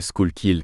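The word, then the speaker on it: Schuylkill: un torrent et approchâ de schulkil prononcé schoukill comme tué colol en anglais ce qui donne l'impression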